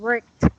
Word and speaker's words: worked: very good work okay remember the T sound worked not work it not